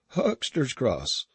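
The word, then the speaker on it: Huxter's Cross: where they sold things because of the name huckster you see pronounced just the same as if it was spelt with a cks instead of an x and i heard afterwards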